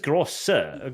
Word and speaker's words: große: Große. No, it's große. Großartige. Sharpest S is S. It's like two S's. Yes, groß. So it's große, I think. Große. Große? Großartige. No, I think it is große.